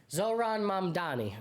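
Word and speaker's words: Zohran Mamdani: Zoran Mamdani.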